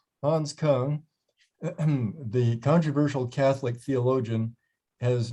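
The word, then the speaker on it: Küng: I'm just going to ignore those two dots above the U. Okay. You say Hans Kung, good enough. Hans Kung, the controversial Catholic theologian,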